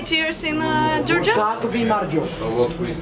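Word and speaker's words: გაგვიმარჯოს: Kak vi marjos. It's to us. To us. Kak vi marjos.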